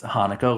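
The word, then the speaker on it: Haneke: It's be brilliantly directed by a gentleman uh by the name of Michael Hanukkah actually pronounced Hanukkah like the holiday uh French filmmaker actually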